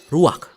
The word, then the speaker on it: ruach: Kata dalam bahasa Ibraninya adalah ruach. Ruak? Ya, benar. Tenggorokan kita harus benar-benar bersih di akhir pengucapan.